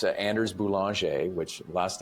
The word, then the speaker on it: Boulanger: I'm probably most active on LinkedIn, and it's Anders Boulanger, which last name, I'll just spell it Boulanger.